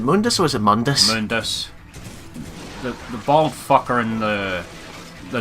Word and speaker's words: Mundus: How is it pronounced? Is it Mundus or is it Mundus? Mundus.